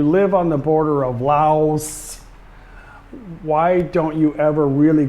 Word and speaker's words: Laos: or it's spelled Vientiane, just like it's spelled Laos. People over here say Lao, and people over here and in Laos say Vientiane.